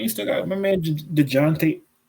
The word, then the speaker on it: Dejounte: Well, yeah, but I mean, you still got my man DeJounte. Is that how you pronounce it? DeJounte Murray? Deontay or It's Deontay. It's Deontay, bro.